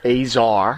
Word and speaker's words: Azar: make sure I'm saying it right, Azar. Azar. Yeah. Who's a star... That makes sense. He's a czar with a star.